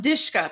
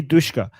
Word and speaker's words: Dushka: It's pronounced Dishka. People are saying Dishka. Dishka. Okay. We say Dushka.